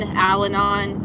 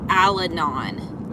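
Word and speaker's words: Al-Anon: I wish I had done Alanon.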